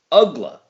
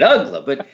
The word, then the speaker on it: Uggla: And I don't know, it doesn't seem to be that tough of a name to pronounce. Uggla. Just look at it, Uggla.